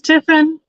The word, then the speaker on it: Tiffin: paulo at all but tiffin is ti ffi in right so it's one of those ones that doesn't necessarily sound like it's spelled but for anybody who